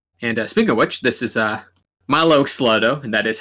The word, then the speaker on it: Mylo Xyloto: And speaking of which, this is Mylo Xyloto, and that is how it's pronounced.